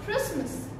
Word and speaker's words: Christmas: And this is Christmas, k sound.